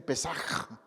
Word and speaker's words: pesaj: pero sí sé que tienen una pronunciación con la garganta cuando pronuncian ciertas cosas Entonces ellos dicen pesaj como has parecido así pesaj en hebreo eso lo